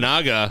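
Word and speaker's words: Imanaga: Amanaga.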